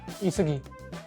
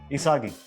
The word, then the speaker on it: Isagi: Isugi. Yeah. नहीं pronunciation गलत है. Isagi. Yeah. Isogi.